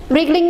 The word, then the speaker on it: wriggling: wriggling have added g two g's are there wiggling w is silent wriggling means twisting and turning right